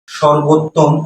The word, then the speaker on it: সর্বোত্তম: বরাবর কার চিহ্ন নাই কাজেই এই নিচেরটাতে অবশ্যই ওকার ধরে পড়তে হবে অর্থাৎ এর উচ্চারণ সর্বোত্তম এটি বৈধ কথা তাহলে